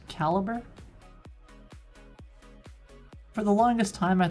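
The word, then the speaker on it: calibre: So, there's this program called Calibbre. At least that's the way I thought it was pronounced, but my friend says it's pronounced caliber.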